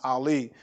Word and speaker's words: Eli: name was ali but in the bible they say eli but it's pronounced ali but he heard or